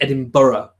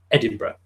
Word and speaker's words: Edinburgh: It's Edinburgh, although it's spelt Edinburgh, which is probably, I don't know whether that's quite difficult for people with a Canadian or American accent to pronounce, but it's pronounced Edinburgh.